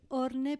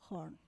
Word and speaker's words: Horne: Voy a decir orne, pero se pronuncia horn.